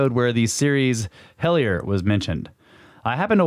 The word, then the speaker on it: Hellier: It's called it's spelled like hell and then I-E-R. Hellier.